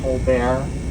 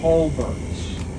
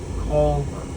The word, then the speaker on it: Colbert: Have any of you ever heard of the late nights comedian Steven Colbear? So Steven Colbear is from Charleston. He's a Charlestonian. The name here is pronounced Colbert. Oh, Colbert.